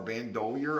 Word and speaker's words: Bandolier: this is uh Budgy Bando doer I think that's how you say it it's b n d o l i e r bandolier I think is how